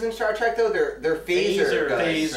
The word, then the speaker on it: phaser: The pH is for fantasy, spelled in, Totally in a very different. fancy way. God. It rhymes with laser.